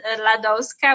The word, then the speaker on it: Ladowska: great honor and online i know my name might be a bit difficult and like a lot of people misspell or mispronounce it but if you put ladoska which is l-a-d-o-w-s-k-a in google or on